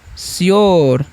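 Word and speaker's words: sure: देखिए एस का उच्चारण करेंगे यहां पर दशा। सेम उसी तरीके से यू आर ई है तो उसका उच्चारण करेंगे योर। ठीक है? तो क्या हो गया? श्योर।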